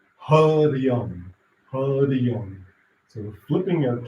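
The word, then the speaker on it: Hariang: As you say the sounds, vibrate the sounds, Harium, Harium.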